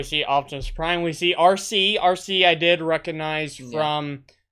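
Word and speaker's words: Arcee: like Innovative names though it's literally just the full like written out the word RC like an RC car the letters RC but they spell it a-r-c-e-e so let's talk a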